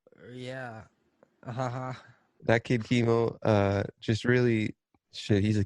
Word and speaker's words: Kimo: by Ron Cicero and Chemo Easterwood. What a name, Chemo Easterwood. Premiered at the Chemo. 2020. I didn't even register the cancer with it. It's spelled Kimo.